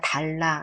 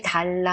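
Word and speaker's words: dalla: " 달라 , 달라 "— 이건 여러분 이 익숙한 한국어 ' 달라 ' 가 아니라 ' 라 ' 발음 이에요 . " 플라이 달라 " 가 아니라 " 달라 " 입니다 . 'a' 발음 을 열어서 이렇게 발음 해야 합니다 .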